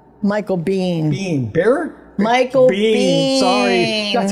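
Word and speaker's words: Biehn: not Michael Bear Michael Bean Bean Bear Michael Bean sorry that's how you pronounce that now Michael Bean Bean he's been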